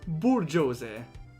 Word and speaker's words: bourgeoisie: It's pronounced bourgeoisie.